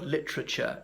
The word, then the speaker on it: literature: Notably, the word literature is 3 syllables. In most versions of British English it is. Americans pronounce it as 4.